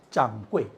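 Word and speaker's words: 掌櫃: 짱꼬이, 짱꼬이. 짱꼬이가 뭐냐? 주인이라는 뜻이에요. 예. 근데 발음이 틀리니까 그러니까 여러분들 중국어 배울 때 발음을 잘 배우세요. 네. 짱꼬이, 짱꼬이 해야 되는 짱꼴라 그러면 안 되는 거예요.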